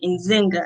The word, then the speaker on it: Nzinga: stern zinger from rochester new york he said in zynga i said yes he was like okay beautiful